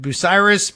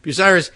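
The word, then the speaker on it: Bucyrus: and Scott here who tells me that busiris pronunciation is correct so I'm moving time to move to Ohio busiris here I come what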